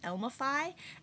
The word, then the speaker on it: Elmify: For the record, I always thought of it as being pronounced Elmify, and as to how